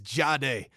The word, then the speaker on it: Jahdae: And that's the way it's pronounced, correct? It's Jade.